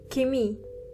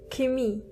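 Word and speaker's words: Chemie: Chemistry is kimi. Kimmy. Here you don't have to pronounce the ch as biology is bi pogi.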